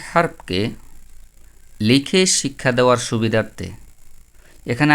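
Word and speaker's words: حرف: চেষ্টা করব যেমন আরবি হারফগুলো কিভাবে এটাকে আমরা হরফ বলবো না। আমরা বলব হারফ।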